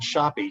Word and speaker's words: Shoppe: And it's spelled Shoppe, you notice, right? Yeah. S-O-H-O-P-E.